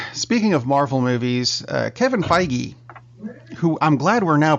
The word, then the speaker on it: Feige: the movie Wow speaking of Marvel movies Kevin Feige who I'm glad we're now pronouncing that correctly that was that works released